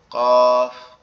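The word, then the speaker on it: قاف: এই যে কফ অক্ষরটা আছে এটা হচ্ছে কোথা থেকে উচ্চারণ হবে এটা আমাদের জিহ্বার গোড়া তার উপরে তালুর সঙ্গে লাগবে লেগে উচ্চারিত হবে জিহ্বার গোড়া তার উপরে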